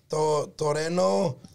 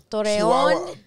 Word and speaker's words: Torreón: It's Toreno. Torreón.